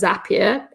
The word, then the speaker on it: Zapier: the page that says zapier makes you happier so it rhymes just thought i'd throw